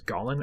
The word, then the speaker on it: Golan: I'm going to pronounce that as Golan or Golan. It is not a misspelling of Gollum.